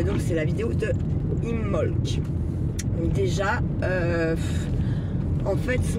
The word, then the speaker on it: Imbolc: on ne dit pas on ne dit pas imbolk mais on dit imolk en fait comme le B ne se prononce pas sauf que ça